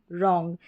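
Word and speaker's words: wrong: ये डब्ल्यू आर जो है, ये जो आर से पहले ये जो डब्ल्यू आर है, ये साइलेंट है, इसलिए रॉन्ग पढ़ रहे हैं, इसको डब्ल्यू का उच्चारण नहीं हो रहा है।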